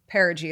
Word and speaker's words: Perigee: And so I like to always kind of say, like, my business is Perigee Photo Co. That's how you say it, because some people don't know that it's Perigee is how you say it.